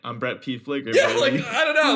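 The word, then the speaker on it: Pfliger: on instagram at brett p flicker p-f-l-i-g-e-r the p is silent you can also uh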